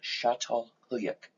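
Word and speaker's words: Çatalhöyük: first city that we know about today called chateau huyak in turkey that's how you pronounce it it's from it's written down there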